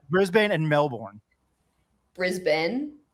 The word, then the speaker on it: Brisbane: pronounce Brisbane and Melbourne Brisbane Brisbane no Ben you're pretty much saying Ben at the end of both of them yeah but you did